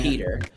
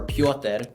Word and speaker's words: Petr: losing it um it's it's spelled p-e-t-r you say it Peter technically you could say well technically it said it's Peter or piote which is how you would say it yeah but I go by Peter and it's spelled PTR yeah um and the